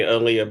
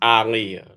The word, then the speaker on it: Aaliyah: Um, some people say Aaliyah, but her name is pronounced Aliyah, like Muhammad Ali.